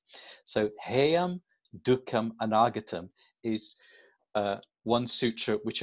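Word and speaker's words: duḥkham: But the actual word dukkham really is made up of these two syllables, du and kha.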